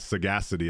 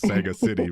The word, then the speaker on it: sagacity: And sagacity, I would not have pronounced that right, so thanks for correcting. I thought it's Sega City, but I'm gonna have to look that up now.